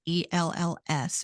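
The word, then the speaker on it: Ells: get Kimberly L's book eels is how you pronounce her last name her book is called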